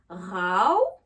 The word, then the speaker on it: row: Pour le verbe se disputer, on va faire le son AO, RAO.